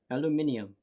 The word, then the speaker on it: aluminium: How do the British say aluminum? Aluminium. That's how it is.